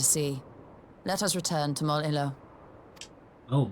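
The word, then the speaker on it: Mol Iloh: I have been pronouncing it horribly wrong. Because I assumed that was two L's right next to each other. But now that I look at it, the words don't get any bigger.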